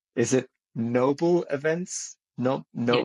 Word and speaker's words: Nóbl: And your business is called, again with the pronunciation, is it Nóbl Events? No, Yeah, Nóbl Events.